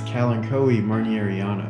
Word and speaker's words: Kalanchoe marnieriana: time to do so when it comes to the pronunciation of this plant's scientific name i'm around 96 sure that it's correct pronunciation is calancoe marnieriana i wouldn't go as far